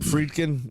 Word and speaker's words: Friedkin: So what's great is is it Friedkin?